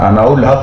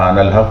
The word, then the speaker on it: انا الحق: کچھ غلطیاں تھیں تلفظ کی، جس کو میں نے اناء الحق نہیں ہوتا، انا الحق ہوتا ہے. اناء الحق بار بار انہوں نے پڑھا، جو ٹھیک نہیں ہے.